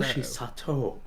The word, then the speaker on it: Hoshi Sato: Hoshi Sato.